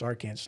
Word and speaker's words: Arkansas: roared up Arkansas Arkansas it's Arkansas not sure Kansas Arkansas exactly that's how